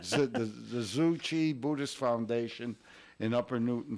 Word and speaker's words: Tzu Chi: it right, Joe, the Tzu Chi Buddhist. Oh, okay. We don't say Buddhist Foundation. You don't say the T, right? No, I don't say it. The Tzu Chi Buddhist Foundation in Upper Newton Falls.